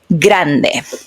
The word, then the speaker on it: grande: So grande grande peo peo remember a little thing again. I'm sorry that I stop a lot but grande it's ending in the e.